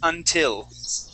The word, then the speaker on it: until: That's the short I sound. It's like between Yes, exactly. So it's a little between a short E sound, and an A sound.